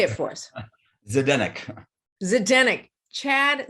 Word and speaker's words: Zdenek: your last name just say it for us zedennik zidane chad zidennick and in five minutes i am not going